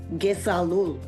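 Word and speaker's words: kesalul: which in Mi'kmaq means Gesalul. It's all one sound, Gesalul. In English, it means I love you. And the pronunciation is Ge-Sal-Ul.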